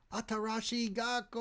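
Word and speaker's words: Atarashii Gakko!: We support Atarashi Gako.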